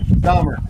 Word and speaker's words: Stommer: So that's the reason why you Reagan see Stommer. Stommer. That's how you say it. Kind of like Stommer.